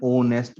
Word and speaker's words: honest: So, dear students, many words are there in English language and their starting letter is H, and but when we pronounce them, we give the sound of vowel sound, like an R. We say R is, we know that that's a vowel sound.